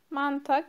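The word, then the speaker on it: 많다: Manta çok demek. Bu da okunurken H okunmuyor.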